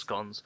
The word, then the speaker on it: scones: for us that someone's scones and yes it's pronounced scones didn't quite rise properly in round three of